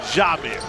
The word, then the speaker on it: Jamir: I knew to pronounce it Jamir.